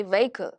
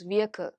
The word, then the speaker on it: vehicle: When we hear the word vehicle, okay, we would generally say vehicle, correct? But actually, the pronunciation is vehicle.